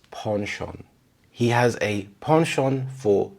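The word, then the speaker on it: penchant: would be pronounced as pension but in British English it closely resembles the French pronunciation it's not exact so it's ponon he has a ponon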